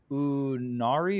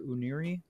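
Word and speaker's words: Unira: Because like, no, it's the Unari or Uniri. Uniri is what I think it is, but like they couldn't even really. I think Bill Trenton gave me the pronunciation. I was like, I'm gonna go with that.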